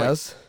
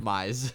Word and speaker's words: Mize: So, like, if you want to come play, We'll give you for Casey Detroit- Maez. Yeah, Maez. How do you say his name? Mize.